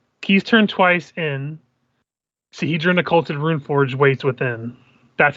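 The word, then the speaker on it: Sihedron: Sahedron Occulted Runeforge waits within.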